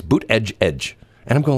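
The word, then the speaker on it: Buttigieg: of his aides said here's how you pronounce his name boot and then edge twice boot edge edge which in you know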